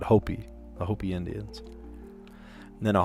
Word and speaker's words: Hopi: Here we pronounce it Hopi.